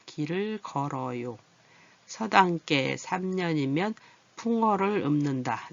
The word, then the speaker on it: 읊는다: 풍어를 읊는다. 읊은다가 아니에요. 여기. 그죠? 읊다 비읍으로 나서 읊는다. 네, 읊는다 할 때.